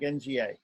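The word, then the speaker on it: ङ: This N with a dot on top, which is pronounced like the N in king. The NG in king, or sing. Yes, the NG, it's like NGA, nga, nga.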